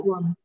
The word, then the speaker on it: भगवं: Mostly लोग हाँ, भगवन बोलते हैं, भगवन नहीं है, भगवम। नहीं, भगवम है।